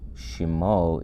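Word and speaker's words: שמו: the end is his so shimo is his name shem let me bring up name shem in hebrew so when you're going to say his name you would say shim o if it was my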